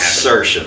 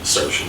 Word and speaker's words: Srsen: Yeah, it's like sir and then your shin.